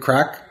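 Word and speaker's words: craic: It's good crack. Good crack. It's Irish slang. Oh, I didn't know. Yeah. But it's spelled C-R-A-I-C.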